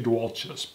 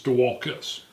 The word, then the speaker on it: Dualchas: I always say Dualkus, but it's Dualkus.